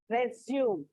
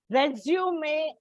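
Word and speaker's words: résumé: Resume actually has a small excuse me. Actually, if you see, there is a slanting bar over the E.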